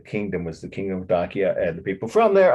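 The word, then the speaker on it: Dacia: current events connection here dakia d i'll spell it slowly for you it was an ancient kingdom on the border of the roman empire in eastern europe d-a-c-i-a-n dakia it was called but the donkey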